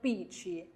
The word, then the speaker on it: bici: 第二个自行车，bici bici，路气都路气都。